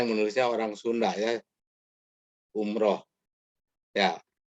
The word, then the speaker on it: Umrah: Umroh. Ya. Yang baku itu pakai A. Ya. Sama dengan salat. Ya. Karena ini ro, ya. Ro dalam bahasa Indonesia jadi ra. Umrah ya.